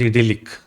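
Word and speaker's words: idyllic: right idilic times idic how do you pronounce it I'm not sure idic it is idilic okay so what is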